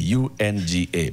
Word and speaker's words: UNGA: So, UN General Assembly, UNGA. Pronounce that. Unga.